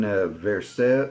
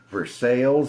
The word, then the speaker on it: Versailles: There's one that's in Versaille or I know how to say it, Versailles, and I can't remember which one it is.